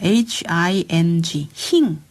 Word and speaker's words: hing: HING 힝입니다. 힝. 흥거할 때 흥을 약간 발음은 힝으로 발음하시면 안 잊어버리시겠죠?